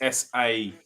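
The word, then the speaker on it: Saïss: Google don't even know Raymond Sass is. Who's Raymond? Roman. ROMAIN. Remain, yeah. Yeah. It's me Cockney accent. See, Roman, I can't pronounce my R's. It's SAISS. That's it, yeah.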